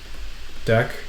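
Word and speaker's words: deque: ended Q right and it's shorten to just deck you might also see it spelled this way different books spell deck this way or it's spelled uh actually This spells like DQ anyway don't worry too much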